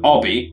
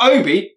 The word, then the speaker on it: Obi: idiot this guy's called Obby no no not Obi you know which is an actual name but Obby hello Bobby even though it's spelled Obi but he has the emotional